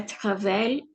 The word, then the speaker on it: travaillé: La semaine dernière, il a travaillé avec moi. Elle a Travailler. travaillé. Oui, nous avons besoin de prononcer le E accent aigu et travailler.